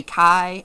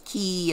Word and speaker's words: chi: of that i'm i i used to say kai as a kid and then i and i learned it was key and anyway so you're